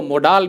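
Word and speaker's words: model: अब वो कैन एक मॉडल है, मुझे नहीं पता। अब हमारे देश में मॉडल को मोडाल भी प्रोनाउंस किया जाता है, लेकिन उसकी एक्चुअल प्रोनाउंसिएशन होती है मॉडल।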